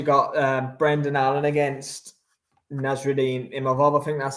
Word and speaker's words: Imavov: You got Brendan Allen against Nasruddin Imavov, I think that's how you say it, who just beat Derek Cannonier. No, you pronounce it McGrail.